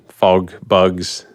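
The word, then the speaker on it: FogBugz: to sort of the, fog bugs days. You got the word right. You got the name right. That's good. Yeah. You're like fog bugs. Yeah, nailed it. Yeah. And it's spelled with a Z.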